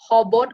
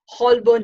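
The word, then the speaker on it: Holborn: से central line लेकर हॉबॉर्न underground station पहुंचे। हॉबॉर्न को वो हमेशा हॉलबॉर्न ही कहते हैं, उसकी स्पेलिंग ही ऐसी है। अंग्रेजी के साइलेंट लेटर हमेशा ही उनको परेशान करते हैं।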